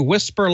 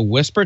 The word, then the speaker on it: WSPR: And you spell that WSPR, and you know what that stands for, the weak signal propagation reporting. The Whisper Light is the specialized test beacon, uses the Whisper technology to transmit a worldwide network of receiving stations.